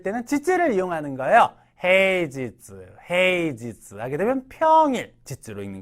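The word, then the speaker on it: 平日: 그래서 평일 일을 때는 지즈를 이용하는 거예요 헤이즈 헤이지스 하게 되면 평일 지지로 읽는 거 오늘 이럴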